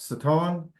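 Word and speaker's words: שטן: came among them and it's pronounced saton and it means adversary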